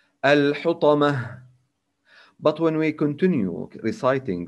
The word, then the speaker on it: الحطمة: When we stop on التاء المربوطة in this example, we should pronounce it هاء. We don't say الحطمة. No, it's wrong. So we should say and we must say الحطمة.